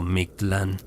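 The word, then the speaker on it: Mictlan: Mctteekasiwat era la reina del MClan pronunciado Miktlan, el inframundo Mejica, el nivel más profundo y oscuro de los nueve niveles del más allá.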